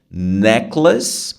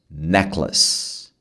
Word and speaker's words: necklace: dá no boi então neas ele tem o som de less mas se escreve Lace então a palavra isolada